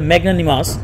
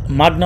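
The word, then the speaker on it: magnanimous: মাগনানিমাস, এটা মনে রাখবেন যে মাগনা আসলে ম্যাগনানিমাস। আর এটা আমি মাগনা উচ্চারণ কেন করতেছি তার কারণ আছে।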